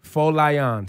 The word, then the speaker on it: Folayan: last name one more time well I am full lie on Foley on remember that name give it